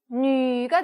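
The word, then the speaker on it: nǚ: 우 하는 입모양에다가 위라고 읽으면 된다고 했어요. 그죠? N이 붙었어요. 너 할 때 너가 나왔습니다. 그러면 니은 발음이 나겠죠? 합치면 뉘가 되겠네요. 뉘. 근데 삼성이 들어왔어요. 그죠? 뉘 이렇게 되는 겁니다.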